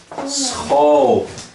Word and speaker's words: school: Que se pronuncia como SG gutural. Então, né, esse ó. Faz. Por exemplo, como esse aqui. Schau. Schau. Por exemplo, esse. Scheef. Scheef. Por exemplo, esse. School.